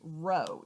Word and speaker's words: rho: like a p but that's really the greek letter rho r h o pronounced row even though it looks like a p so we're going to